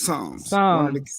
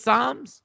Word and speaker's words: Psalms: The P is silent. It's Psalms. Are they named one of their kids Psalms?